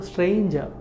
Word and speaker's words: stranger: R is silent because before R we have vowel E, right? So R is silent. So stranger.